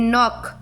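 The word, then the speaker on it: knock: Then नॉक, नॉक, के का pronunciation नहीं हो रहा है।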